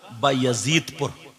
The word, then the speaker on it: बायजीदपुर: सही प्रोनाउंसिएशन तलफ्फुज जो है इसका बायजीदपुर।